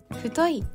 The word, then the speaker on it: 太い: 角です送り仮名の衣をつけるどう太いと読みますインウィングえしゅ太い